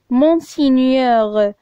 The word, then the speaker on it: Monseigneur: Donc le mot qui contient le son nieux, c'est le mot Monseigneur. Donc, on a le son niais. Donc, Monseigneur, le son niais qui s'écrit avec GN.